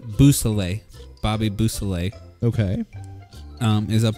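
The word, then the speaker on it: Beausoleil: So I believe it's pronounced Boussalet.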